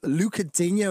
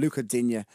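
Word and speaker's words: Lucas Digne: Oh, so it's Luca, not Lucas. It's like a silent test at the end. Luca Digne is how you pronounce his name.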